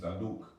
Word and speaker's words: Zadok: Zayn is when you find in the word Zadok. Zadok, which means priest or righteous priest. It was actually the name of a priest. Malak Daoud's priest was named Zadok, or Zaduk in the actual Aleph pronunciation, Zaduk.